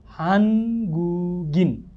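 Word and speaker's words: 한국인: आएको छ होइन भनेपछि यो गलाई हामीले माथिको ईसँग जोडेर पूर्ण उच्चारण गर्नुपर्छ नि होइन ग छ लगतै पछाडि इ छ भने ग प्लस इ के हुन्छ यहाँ गी हुने भयो हान्गुगी अर फेरि अर्को अक्षर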